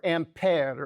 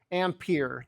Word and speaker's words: ampere: like a kulm per second which gets a new name the amp or ampere or ampere depending on what side of the pond you happen to you know pronounce things on.